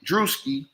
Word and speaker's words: Druski: he owned her now I should say druski my bad I don't know how to pronounce his name droski druski my bad druski okay my bad uh at some point